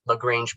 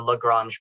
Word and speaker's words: Lagrange: So I'm going to try to be pretty consistent with using Lagrange point or Lagrange point. I can pronounce it either way inconsistently.